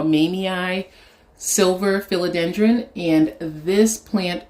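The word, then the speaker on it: mamei: Behind it, I have my, I believe it's pronounced Mamie or Mamie silver philodendron, and this plant was not doing anything for me.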